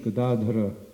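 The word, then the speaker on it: Gadādhara: to pronounce his name the accent's on the second syllable not on the first or the third means club and means one who holds so krishna's name is kadadhira when you hold the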